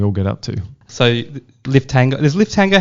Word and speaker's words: Liftango: But yeah, Liftango is how we sort of pronounce it.